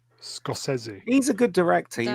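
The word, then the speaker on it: Scorsese: was the last great apparently he scosi is how you pronounce his name SC scosi probably yeah no it is it is scosi he's a good director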